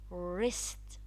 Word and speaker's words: wrist: Also in the word wrist, the W is followed by R, so the W is silent.